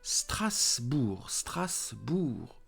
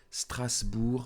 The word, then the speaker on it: Strasbourg: Paris, Marseille, Strasbourg, Bordeaux. So, don't forget, do not pronounce the ending, the last letter. Don't say Paris. Don't say Strasbourg. Don't say Bordeaux. No, do not pronounce them.